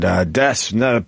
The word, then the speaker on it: Des: Do you pronounce it Des or Des? Des.